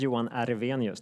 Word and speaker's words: Johan Ervenius: thanks okay hello uh my name is Yan aranos that's how you pronounce it uh working for